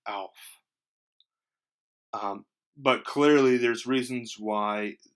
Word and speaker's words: Aelf: ash be pronounced well it conventionally would be pronounced as a short a now there are three different types of or ways to pronounce an a as long as an able great or late short as an act cat or bat or soft as in father long taught and the soft is the soft a is how an ash would be pronounced so this would be like a very soft Alf but clearly there's reasons